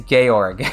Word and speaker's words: Georg: I did it too his name is gay org yeah because that yeah exactly because Garrick is an actual name with that pronunciation and not just George without an e yeah because that that's